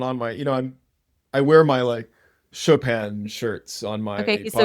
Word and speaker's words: Chopin: Chopin, chop out. What's so dumb about the pun is that it's not even pronouncing his name correctly, Chopin.